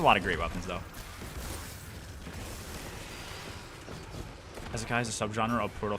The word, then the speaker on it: Isekai: The I is pronounced more like an E. Isekai, something like that.